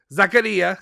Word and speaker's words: Zakaria: the wait wait i'm gonna say it right zakaria there we go nina zakaria and dusan vladovic